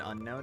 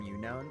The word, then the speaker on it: Unown: I still I don't call unknown unknown. I call them younown because I think it sounds cooler.